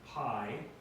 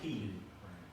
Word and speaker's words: pi: Kappa Landa exceed Omicron Pi now some will call Pi peen right um I go with pi all right in math